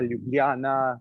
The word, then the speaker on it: Ljubljana: tongue twister, you know, Ljubljana, but Bohinj, or Kranjska Gora, all these places, and ja, it's not, we pronounce it as ja, like Germans would.